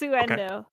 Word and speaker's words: Uendo: Unedo Tornado. The time has come You for that mispronounced ponytail. that. It's Uendo, because it's windy.